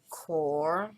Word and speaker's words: QoR: a little cube and see core and yes that's how you pronounce it uh yeah it's they